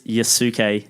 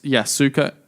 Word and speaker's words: Yasuke: we really butchered it it's yasuke dot collective okay we did not say I think you said you yes suka you're Sookie yeah yes